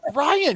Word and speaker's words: Ryon: So my son's name is Ryan, and we spell it old Gaelic Scottish way of Ryon. Okay. And so yeah, you wouldn't believe the amount of people like Ryan, Ron. What is this? It's like Ryan. It's simple.